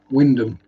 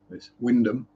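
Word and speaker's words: Wymondham: pronounce it wrong so there are three letters in there that you don't pronounce actually Four in Norfolk you could in uh you could why she that's how you pronounce it Windom yeah yeah I M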